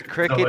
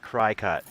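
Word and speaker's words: Cricut: it up it says Cricket is pronounced like the insect cricket and not cry cut though spelling is a play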